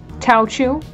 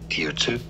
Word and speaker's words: Teochew: A noun, so how do you say it? Teotu. Huh. Nowhere close to how I was pronouncing it.